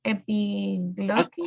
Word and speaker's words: epiglottis: The one epiglottis. Okay, I okay, epiglottis. epiglottis. Yes, Okay. notice the pronunciation, the PI, P. right, is higher pronounce.